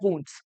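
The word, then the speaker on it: wounds: इसकी जो correct pronunciation है वो है वुंड्स। Don't sprinkle salt on माई वुंड्स।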